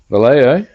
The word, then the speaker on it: Vallejo: Vallejo? That's how you say it.